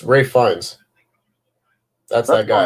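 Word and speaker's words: Ralph Fiennes: to them yeah um it's also ralph finds ray finds someone else is it yeah all right go on um i'm pretty sure i'm pretty sure that's just how you pronounce that name he's got a very long name yeah it's ray fines that's that guy how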